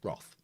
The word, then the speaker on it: wrath: incur her wrath again it's pronounced wrath unless you're an american and then it's wrath but it's roth one saturday night at